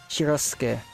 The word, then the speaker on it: Shirosuke: Forgive me for my pronunciation. Shirosuke is how that name is pronounced.